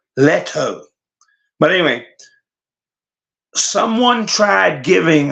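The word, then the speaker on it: Steve Lehto: Le H some people say letho but he pronounces it l h t o Leto but anyway someone tried giving $120,000 to juror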